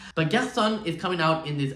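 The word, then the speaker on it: Garçonne: And Garçon is actually said Garçon. This one threw me off a little bit because obviously I speak French and the pronunciation would normally be Garçon, but there would not be the N-E on it, which really means male in French. But she added the N-E and made it more Spanish, and I was like, okay, work, girl.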